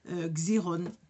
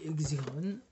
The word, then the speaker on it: Xyron: Gironde 900 alors évidemment avec mon accent je le prononce pas bien xyrone bon moi je dis xérone zéro 900 voilà vous elle